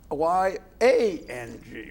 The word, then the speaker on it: Yang: His name was Jianyu Yang, Y-A-N-G, right? Yes, yes. But you pronounce it? Pronounced as Y-O-U-N-G. Y-O-U-N-G. Yeah. Yes, and that's my language. Yes. Y-A-N-G, but pronounced as Yang.